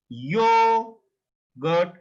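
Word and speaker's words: Joghurt: So always you have to pronounce this J as a English Y, like yogurt, yogurt, yogurt. J pronounced as Y, like y in Hindi, y.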